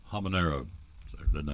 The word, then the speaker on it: habanero: fill them up so we have the apricot habanero habanero I didn't know how to say that so